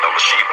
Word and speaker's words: Elisheba: I have a daughter named Elizabeth, but in Hebrew it's pronounced Elisheba.